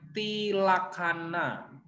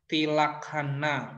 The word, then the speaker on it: Tilakkhana: Kalau di dalam bahasa Pali, 3 ciri kehidupan itu namanya tilakana. Apa namanya 3 ciri kehidupan dalam bahasa Pali? Tilakana ya, dibacanya kalian boleh baca tilakana boleh atau tilakhana bacanya ya.